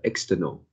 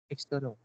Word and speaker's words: external: is a external so the stress the stress should be on the second and you're pronounced as uh external so external should be the the correct pronunciation external yeah and also uh